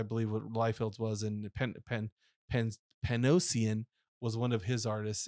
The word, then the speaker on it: Panosian: It's Dan Panosian is what his name is.